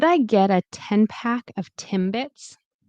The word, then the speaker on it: Timbits: Remember M. Put your lips together. B. Your lips are together as well. So the M of M and then B. It's like an explosive um of your lips breaking apart.